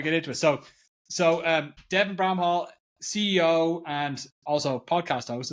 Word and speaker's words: Bramhall: and actually, it's an English name, and so I think you're Irish, right? I'm Irish. Yeah. So you're like primed. You're like close. Like you're primed to pronounce that right. Absolutely. Everybody else makes it more complicated or more fancy. They're like Bramhall. Yeah. No, Bramhall. It's just Bramhall.